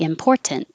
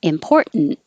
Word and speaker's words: important: all ready to go you can say this with a t and very clearly important or no t which is more common important and have the noise important important and smarter and yeah